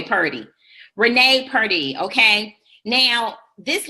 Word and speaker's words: Purdy: butchering your last name is it per day or per D okay Purdy Renee Purdy okay now